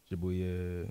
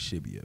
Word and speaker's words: Shibuya: Tokyo, Shibuya, Roppongi. Which one of them you like the best? I go with Shibuya, man. Shibuya?